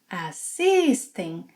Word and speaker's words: assistem: Vocês, eles, elas assistem. And again, assisting has a nasal sound.